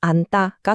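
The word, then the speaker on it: 앉다: 안따는 조금 더 재밌어요. 먼저 니은제에서 지으시 탈락해요. 근데 거기서 끝이 아니에요. 남은 니은 때문에 뒤에 있던 디귿이 갑자기 따 소리로 변해요. 그래서 최종 발음이 안따가 되는 거죠.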